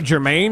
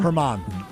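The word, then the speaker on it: Germán: Domingo Germain, is that how you say his name? Herman. Herman. Soft. She makes H.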